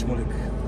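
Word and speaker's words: Shmulik: My name is Schmoolik. Could you spell it for me, please?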